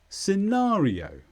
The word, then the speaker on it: scenario: is a noun with the stress on na scenario and this means a